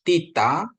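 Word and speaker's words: θήτα: i dalam latin ya terus tita itu t h ya tanks seperti kata tanks ya terus yota i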